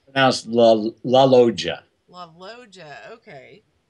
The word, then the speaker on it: La Loggia: it's it's a swell la loggia mojo okay the 2 g's are kind of like a J oh my god okay